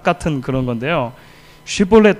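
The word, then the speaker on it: שיבולת: 쉿볼렛 발음해봐 하면은 북쪽의 사람들은 그 쉬라고 하는 sh로 발음이 안 되는 거예요. 그래서 씹볼렛 이렇게 발음을 하는 거죠.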